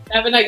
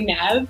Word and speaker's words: Nevena: Nevena, yeah, and so many people say Nev because it's easier. Nev. So I'll respond to whatever one you say.